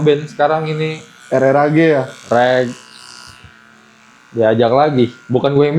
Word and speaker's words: RRAG: Asal usulnya reg. Apa dibacanya rag? Reg atau rak boleh. Gue lebih sering nyebutnya reg aja sih. Jadi kayak kalau di bahasa Inggris kayak lap gitu.